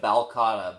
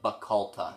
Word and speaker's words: Bacalta: You called it the Bacalta, but it's the Bacalta. Bacalta, sorry. Or probably a much better Scottish pronunciation that we can't do.